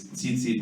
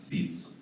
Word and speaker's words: tzitzit: The fringes, that's the Hebrew word for fringes, which, by the way, it's tzitzit, whether it's plural or singular, it's not seats.